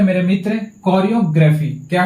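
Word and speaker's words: choreography: इसका प्रोनाउंसिएशन पे ध्यान दीजिएगा, कोरियोग्राफी पढ़ते हैं, ठीक है ना।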